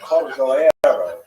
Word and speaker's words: Cordovero: Matseva, his grave note, it's Cordoero. It's a Portuguese spelling, but it's kind of a strange thing to pronounce in Hebrew, so it's sort of mangled into Cordovero, and that has become the standard, even though it's probably not correct.